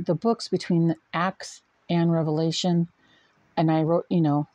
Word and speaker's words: Revelation: All That is Holy it is pronounced Revelation not Revelations it wasn't multiple Revelations it was one long Revelation okay know your stuff